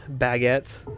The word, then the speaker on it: baguette: Okay, Baguette. Don't pronounce the et as et. Pronounce it as it.